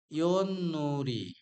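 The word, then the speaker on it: 윷놀이: প্রনাম করার পরে ইদনুরি এখানে তবাসিমের পরে এখানে সি হচ্ছে তবাসিম তবাসিমের পরে নিয়ন থাকলে তবাসিমের পরে নিয়ন থাকলে এই তবাসিমটাও নিয়ন হয়ে যাবে অর্থাৎ উচ্চারণ দিবে তাহলে এখানে সঠিক উচ্চারণ হবে ইনুরি ইনুরিরুল অর্থাৎ এটা একটা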